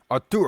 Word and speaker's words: Arturo: Arturo.